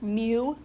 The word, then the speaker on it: mu: about Mew before m Mew is called me mu that's how it's like pronounced Mew right it looks kind of